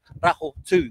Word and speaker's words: Rahotu: We'll still go, yes, that's right, whānau, it's pronounced Rahotu, the standing ure.